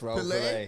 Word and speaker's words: Raoul Wilke: Yes, Raoul Wilke.